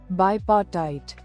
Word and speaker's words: bipartite: So I just want to see how you pronounce it. Bipartite.